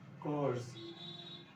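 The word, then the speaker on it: corps: This is कोर्स, इसकी P silent होती है, कोर्स।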